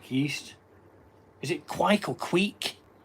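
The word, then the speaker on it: kveik: Next up, I have got either a I call it a kvike, but it's pronounced quake and it's Norwegian um for yeast beer.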